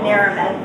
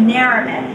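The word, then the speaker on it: Chalamet: And they'll be like, well, she got everything right but Naramet. It's Naramet, not Naramet. And Cardi's going, you sound the same to me. Okay, get it. Emphasis on the first, you know.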